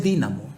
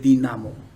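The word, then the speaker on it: dínamo: No es dinamo, no tiene acento en la i, es dinamo.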